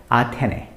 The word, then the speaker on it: 아테네: You have to say it as Athene.